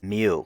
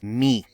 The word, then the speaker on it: mu: me and tradition as mu or mu the real pronunciation in Greek is me so here we could